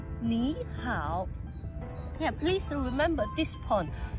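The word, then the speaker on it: 你好: In the future, when you spot any two words on the third tone together, you should always pronounce the first word as the second tone.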